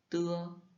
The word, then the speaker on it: t: Le t, c'est en chinois, c'est une consonne comme un T en français, mais avec un souffle plus marqué. Et on prononce avec un petit souffle et c'est délicat.